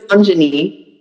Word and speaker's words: Anjani: Just to give you a little bit of background, Anjani, am I pronouncing that when I say Anjani? Well, I'm pronouncing Anjani.